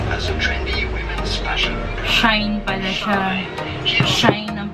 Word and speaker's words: Shein: Shine pala siya. Shine ang pag-pronounce niya.